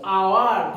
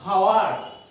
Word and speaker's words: hour: The proper pronunciation is hour, not hour. H is silent here.